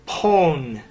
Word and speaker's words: pwn: that in the show you pronounce own as own but my friends and I say pone what gives well Jeff